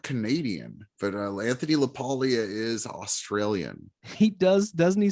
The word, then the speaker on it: LaPaglia: Yeah, I say LaPaglia. I don't know how you say it. Honestly. I think that is how you say it. Like you have Camille Paglia.